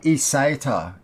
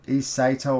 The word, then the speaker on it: eSATA: also it's got your uh esata eseta or sata depending on how you say it uh ports another